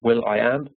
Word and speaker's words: will.i.am: His name is pronounced Will.I.Am.